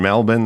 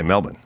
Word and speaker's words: Melbourne: And Is Melbourne and Melbourne the same place? That's how you say it in Australian. Oh, they say Melbourne.